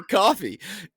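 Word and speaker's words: Ko-fi: __ ] you can pop on down to coffee it's spelled k fi which is why I was confused even though I've done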